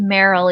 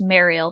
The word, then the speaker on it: Mariel: I pronounce it Merrill, even though I think it's pronounced Mariel, but Mariel of Redwall,